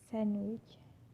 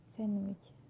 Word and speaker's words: sandwich: For example, Wednesday, handsome, sandwich. Wednesday, handsome, sandwich. So I'm not pronouncing the D, I'm just pronouncing the N consonant sound.